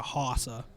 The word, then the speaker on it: Hossa: I had a hockey one that was like a Hossa. But I mean, it's pronounced Marion Hossa, so the joke was kind of lost on everybody.